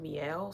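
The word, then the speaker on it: Mielle: It's called Miel, so it's spelled M-I-E-L-L.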